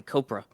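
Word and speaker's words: Kopra: So Tim Cop Cop Copra flew 127. How do you say it? Like Cobra Kai Copra.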